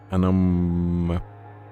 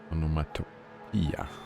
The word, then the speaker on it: onomatopoeia: Banana Waffle Monkey says that it's, according to the IPA, it's pronounced anomatopia.